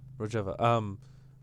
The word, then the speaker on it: Rojava: Rojava.